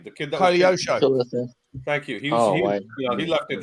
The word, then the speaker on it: Koleosho: Kaleshko? What, I don't even know how to say his name. The kid that Koleosho.